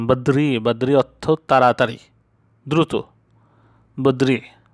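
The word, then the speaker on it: بدري: তেমন বদ্রি, বদ্রি অর্থ তাড়াতাড়ি, দ্রুত, বদ্রি উচ্চারণটা এরকম হবে বদ্রি মানে তাড়াতাড়ি।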